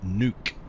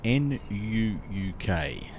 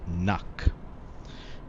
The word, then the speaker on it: Nuuk: city airport, which is Nuuk. Nuuk, N-U-U-K. Now here in Australia, well, some of us would be inclined to pronounce that as Nuck, but it's not Nuck, it's Nuuk. Nuuk, not Nuck.